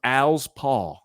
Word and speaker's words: Alspaugh: It's a guy named Al, and he's got a paw, so it's Alspaugh.